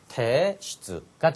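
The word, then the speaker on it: 提出: 제출은 당연히 테슈츠가 되겠죠.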